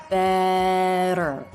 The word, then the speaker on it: better: of this word better so the tongue bounces against the roof of the mouth then the tip pulls back a little bit so it's not touching anything I always encourage students to hold out the sound before and after a flap T to help them focus on that clean quick movement holding out that ER are schwa combination ER will also help you focus in on that sound better it couldn't be better